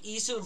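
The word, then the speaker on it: Issun: name okami he's like isu from okami i think that's how you say his name i-s-s-u-n for those who play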